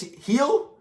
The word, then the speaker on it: Gil: blue jays against lucas is it lucas heal but it's spelt gill wild the kid's fantastic